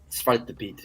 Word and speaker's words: Zwarte Piet: Zwarte Piet.